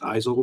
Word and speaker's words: Isel: Just Isel rhymes with Pisel.